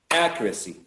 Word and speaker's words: accuracy: somewhere uh because um the stress should go on the first syllable um i think it's